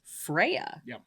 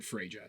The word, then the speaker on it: Freyja: on the norse goddess freya um which does in fact have a mostly silent j in the way that americans say it in the way that all people say it nobody says it freyja that's definitely not i